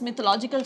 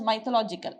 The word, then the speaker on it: mythological: You don't pronounce it as mythological, you pronounce it as mythological. Okay, it is pronounced as mythological because MITH is myth. If you are pronouncing it as mythological, please change it to mythological.